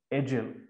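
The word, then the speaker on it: Edial: He tried to establish a school at Edgell, E-D-I-A-L, pronounced Edgell.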